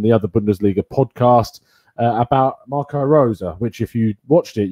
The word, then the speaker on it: Marco Rose: other Bundesliga podcast about Marco Rosa, which if you watched it, you realise that I mispronounced Marco Rosa's name about 50 times. I called him Marco Rose, like a typical Englishman that I am.